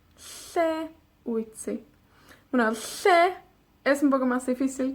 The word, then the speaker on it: lle: Para pronunciar la doble L, hacemos como una L, pero soplamos a ambos lados de la lengua.